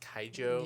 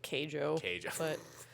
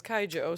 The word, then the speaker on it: Keijo: is that it's pronounced kaijo yeah i think in the english dub they call it keijo but the way that the japanese say it is kaijo so i'm gonna i'm